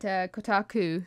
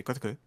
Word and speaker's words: Kotaku: Yeah, well, apparently, is it Kotaku, is how you pronounce it. It's got some insiders. Yeah, it's called Kotaku, but I prefer to say Kotaku.